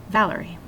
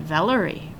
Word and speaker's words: Valerie: word that's naturally stressed my first name Valerie usually the nickname val comes from the stressed syllable it would sound a little bit weird if I said Valerie or Valerie it doesn't sound natural so practice saying a